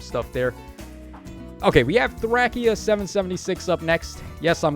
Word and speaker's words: Thracia: If you want to know why that is, read the katakana for the game in Japanese and tell me that doesn't say Thracia.